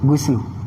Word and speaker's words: ghusl: Nah, ini kalau mandi wajib itu go-nya itu dibacanya domah ya, ghusl.